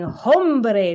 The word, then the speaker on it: hombre: And I was saying hombre because there's an H. And in English, you pronounce the H. So I guess I assumed you pronounce the H in Spanish.